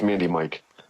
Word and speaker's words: Mandemikc: Well, they're like Mandmi Mand Mandik. I was like, no, it's like pandemic just man.